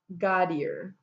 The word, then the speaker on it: Godere: And this was Diane Gaudier, and her name is spelled Godere.